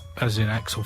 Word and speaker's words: Aczel: Yeah, is Axel as in Axel Foley or Axel Rose?